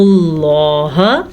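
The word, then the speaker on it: الله: ان اللہ ہونا نون پہ شد کی وجہ سے لفظ اللہ کو پر پڑھیں گے کیونکہ لفظ اللہ سے پیچھے زبر آنے کی وجہ سے.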